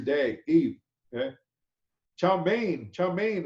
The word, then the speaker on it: chow mein: Chow mein is the Cantonese pronunciation of the Chinese characters above, which means stir-fried noodles.